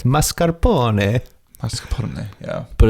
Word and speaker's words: mascarpone: I think I don't know why this is very specific, but that like bakers say mascarpone and that's not how it's spelled. Mascarpone? It's mascarpone.